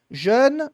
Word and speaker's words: jeune: Treina distinguir isso na sua fala. Jeune, jaune. Tenta conseguir pronunciar os dois.